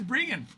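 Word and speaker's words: Breggan: But it's pronounced Brian, right? It's pronounced Brian, but it's spelled Rean.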